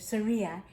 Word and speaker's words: Surya: Here is the true story of an amazing friendship between an orangutan named Surya, and it tells you how to say it, Surya, and a dog named Roscoe that began at a wildlife preserve in South Carolina.